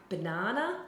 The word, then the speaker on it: banana: So in a word like banana, the b, it's a weak syllable, and na, they are more stressed.